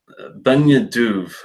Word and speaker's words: Beinn Dubh: called a nominal butcher the pronunciation mark it's a benya Diouf i think i say it's bei in in Dubh and ph is usually a soft v and gaelic so let's do the